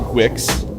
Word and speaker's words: Guix: Wilson CRA texer yes it's apparently Wix and MX that's that's how these are pronounced now uh all right last